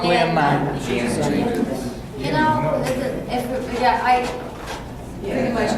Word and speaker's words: Lena: Lena, you're so beautiful.